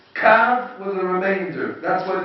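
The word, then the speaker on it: קו: But the he we don't pay attention, we don't read it kavah.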